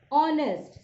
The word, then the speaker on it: honest: And similarly in case of article an, although the word our, honest, see I am pronouncing, students, our, honest, it starts with H, but the sound of H is silent, and what you are